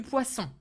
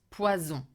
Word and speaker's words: poisson: Or du poisson. Du poisson. Very careful with the pronunciation of poisson. Poisson. Pois, open, s, the snake sound. S. Nasal sound. Un. Not poison.